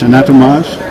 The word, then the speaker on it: Anatomage: animage table virtual dissection did I pronounce that correctly animage adage adage atage anage it sounds French it sounds French anatomage right okay yeah I know that